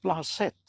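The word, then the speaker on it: planchette: আপনার কি মনে হয় প্ল্যানচেট কে কিভাবে দেখেন প্ল্যানচেট জিনিসটা এটা ফরাসি শব্দ ফরাসি শব্দের উচ্চারণ হচ্ছে প্লাসেট অর্থাৎ কাউরো উপরে আমি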